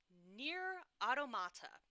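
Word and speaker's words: NieR: Automata: people would taste so in January super excited near automata is that how you say it yes Netflix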